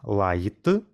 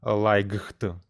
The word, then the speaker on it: light: своєму місці До речі слово Light ми вимовляємо як Lite а пишемо La G HT Як бачите оці GH ми не кажемо лайкхт А вимовляємо Light Ну ви напевно цей